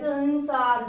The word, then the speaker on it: संसार: अनुस्वार का उच्चारण आधे म के समान, जैसे संसार इसमें आधा म की आवाज आती है, और विसर्ग के उच्चारण